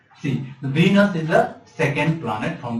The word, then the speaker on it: Venus: one is really Mars Venus not Venice its venus is the second planet